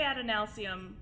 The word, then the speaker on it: Adenalsium: I say Adenalsium. He's not picky about his pronunciations. So if you pronounce something different than he doesn't really care. Just make sure that you do include the L, because in the original